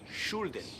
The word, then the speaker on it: shouldn't: No he dicho shouldn't. No, he dicho shouldn't. La L no lo pronunciamos.